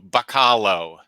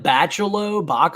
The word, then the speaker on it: Bachalo: I think it's Bach and like hollow, Bachalo. Wow, I've been saying it wrong for a long time. I've been saying like Bachalo.